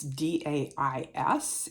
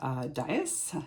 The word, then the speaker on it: dais: I just developed it's d-a-i-s and if you look in the Oxford Dictionary the word dice a dais excuse me I had to learn how to pronounce that Deus is defined as